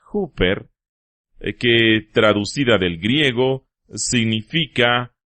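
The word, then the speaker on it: ὑπέρ: Karl Barth dijo en una ocasión que la palabra más importante en todo el Nuevo Testamento es una pequeña palabra griega que se pronuncia huper, que traducida del griego significa a nombre de o por alguien.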